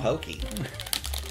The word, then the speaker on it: Pocky: absolutely incorrect i don't like that at all pokey but apparently that is how you pronounce it goodbye goodbye everyone thanks for tuning